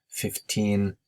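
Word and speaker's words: fifteen: to correct my english 15 versus 50 it's a common pronunciation mistake 15 you have to clearly pronounce the n at the end and then speakers will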